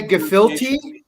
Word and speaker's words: gefilte: lot you can say gefilte or you can say gefilt the e can be silent but it's not phil ta i can tell you